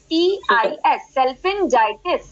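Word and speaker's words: salpingitis: में इन्फ्लामेशन है तो हम उससे बोलेंगे मेडिकली सेल्फिंजाइटिस। ये शब्द समझ में आया आप लोगों को? मैडम एक बार स्पेलिंग प्लीज बता दीजिए। सेल्फिंजाइटिस, SALPHIGINITIS, सेल्फिंजाइटिस।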